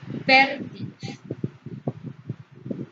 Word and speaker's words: fértil: Entonces la palabra fértil se pronuncia con mayor intensidad aquí en esta sílaba, la última, penúltima, antepenúltima. Igualmente es una palabra esdrújula y según las reglas de ortografía siempre deben llevar tilde.